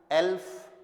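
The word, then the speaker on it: elf: 11 will be एल्फ, आधा ले and then फ, एल्फ।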